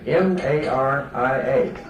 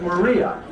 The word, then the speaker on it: Maria: One was named Anna, and the other was named M-A-R-I-A, which in the English tradition is pronounced Maria. And when I was a young fellow, everybody called it Anna Maria.